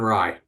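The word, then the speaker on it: Rai: Ray, Ra, Aaron Rye.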